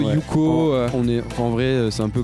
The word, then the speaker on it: Huko: Qui forment donc Yuko, ça se prononce bien Yuko, hein. Ouais. Parce qu'il y en a qui disent Uko, Ouais. Yuko.